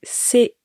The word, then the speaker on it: Caen: Alors attention avec la ville de Caen, ça s'écrit C-A-E-N, mais ça se prononce Caen. C'est un peu particulier.